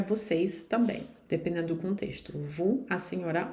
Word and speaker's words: vous: Por exemplo, aqui, vous parlez português. Vocês veem que o vous aqui, o S, não se pronuncia.